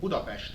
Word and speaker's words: Budapest: I come from Central Europe, Hungary, more specifically from the capital city of Budapest, as we pronounce it.